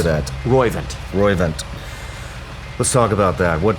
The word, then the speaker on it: Roivant: talk about the company that you started in r-o-i-v-a-n-t how do you say that roivant Roy event let's talk about that what prompted that yeah